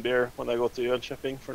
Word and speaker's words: Jönköping: By the way, you guys owe me 1 beer when I go to Jönköping for not bitching about rolling on the road, right?